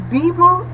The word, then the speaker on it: vivo: Então, argentino, depois o V de Vitor se pronuncia igual que V de bola, ok? Vivo, e não vivo, certo?